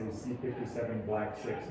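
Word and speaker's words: C57BL/6: so you know the the most common way of pronouncing that strain of mice is to say c57 black 6 mice that's just what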